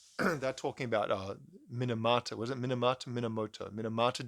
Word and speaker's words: Minamata: chose to uh to write a song about minimata disease is it minimata I feel like I'm produced oh pronouncing it wrong hang on no it is minamata apparently they made a movie about her in